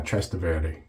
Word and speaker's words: Trastevere: You're supposed to stress the middle syllable, and yeah, Trastevere. I always want to roll my R on that last one, Trastevere, or something like that, but I'm nowhere close to being Italian.